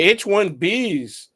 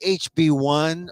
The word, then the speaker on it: H-1B: to say it right it's H1B it is B H1B Visa B Visa they probably confuse Visa with the V some people some people say hb1 or HV there is a such